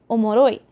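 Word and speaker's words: 面白い: For example, there's a word omoshiroi, which means like, oh, it's really interesting, but they say omoroi. They cut out the shi entirely, and there's a lot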